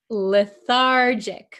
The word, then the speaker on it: lethargic: you pronounce this word lethargic remember this is a JJ sound lethargic Okay the patient feels